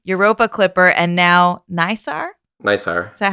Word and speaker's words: NISAR: NISAR. Is that how we're pronouncing this?